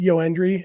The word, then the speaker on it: Joendry: and uh I would be inclined to say yendry anyway uh but I also have an autographed baseball card of him that I got uh a year or two ago uh and it's actually spelled with a y y OE n d r y um and so it seems like uh seems like it's definitely yoandry uh it's spelled with